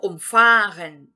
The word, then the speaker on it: umfahren: Primeiro, com o verbo umfahren. Aqui, por motivo de eu não estar entonando a primeira sílaba, ou seja, o prefixo, eu estou entonando a segunda sílaba.